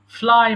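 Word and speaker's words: flew: ফ্লাই মানে উড়ানো, ফ্লাই, ফ্লু, ফ্লোন। ফ্লাই উড়ানো, ফ্লাই, ফ্লু, ফ্লোন। এখানে আমরা ভুল করে ফ্লিউ বলি, but remember it's নট ফ্লিউ এট অল, it should be just only ফ্লু, ফ্লু।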